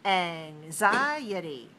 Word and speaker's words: anxiety: the syllable stress changes we have more syllables four of them and we have to stress the second one like this anxiety so we have a